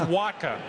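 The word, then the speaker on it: Wacha: to pronounce his name it's pronounced waka and everybody knows waka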